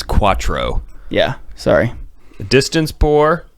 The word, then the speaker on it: quattro: a healthy that's numero Quatro Quatro yeah except for a health healthy pregnancy don't say it like that you said you sound ridiculous when you say it like that oh sorry it's Quattro yeah sorry the distance